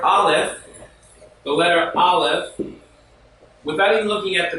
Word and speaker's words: Aleph: The letter Aleph is silent, so we think of